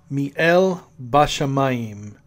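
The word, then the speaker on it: מי אל בשמים: there in heaven and the pronunciation in the Hebrew is me el Vashem I'm me el Bassam I'm which is what God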